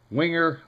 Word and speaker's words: Wenger: The Wenger family lives in the French-speaking areas of Switzerland and are of French descent. So it's not Wenger, they're not German. They are French.